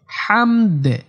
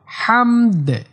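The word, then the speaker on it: حمد: বলে বলা যাবে না হামদ লাস্টে দাল একটু কলকলা করতে হবে হামদ এরকম হবে হামদ হামদ রব্বানা লাকাল হামদ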